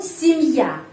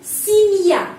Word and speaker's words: семья: Kenapa di sini huruf Y pengucapannya I? Karena tidak mendapat penekanan. Kalau huruf Y tidak mendapat penekanan, huruf Y dibaca I. Семья. Di sini penekanannya pada huruf Ya. Dan huruf Ya kalau mendapat penekanan, itu video 33. Kalau mendapat penekanan, huruf Ya pengucapannya Ya, seperti namanya di alfabet.